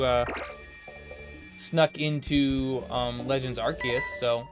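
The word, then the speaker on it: Arceus: good things in here archus that's the official pronunciation by the official Pokemon company I don't want to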